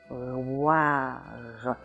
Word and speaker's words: bouilloire: Now, this word does have a little trick in it in that you have two semi-vowels coming together, the y and the w, and that's a little bit different than you usually find, but other than that, the